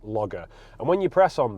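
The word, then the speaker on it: LogR: cool thing called Honda log R now I'm assuming that's meant to be pronounced logger and when you press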